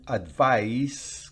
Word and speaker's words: advise: To advise, con S significa aconsejar. Advise, advise, aconsejar. Pero si es advice, fíjense que en la primera al final es z, es Z, pero en la segunda advice es una S.